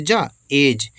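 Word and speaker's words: edge: है रुकते हैं हम ई डी जी ई ई से ए और डी साइलेंट है जी से जा जज जज मतलब होता किनारा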